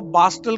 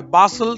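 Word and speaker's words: bustle: বাসল, দেখো বাস্টল কিন্তু নয়, বাসল, টিটা সাইলেন্ট।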